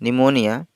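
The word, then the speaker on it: pneumonia: बाद है निमोनिया निमोनिया निमोनिया की स्पेलिंग प्राइस में पीस साइलेंट है कि निमोनिया कि यह निमोनिया मैं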